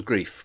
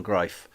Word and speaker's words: Greif: Stephen greif I used to think it was grief because it spelled like grief but it's Stephen greif he was famous for playing two characters uh